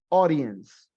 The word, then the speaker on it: audience: Recuerden que esa AU en audiencia suena como una O. El fonema AU es O, audience.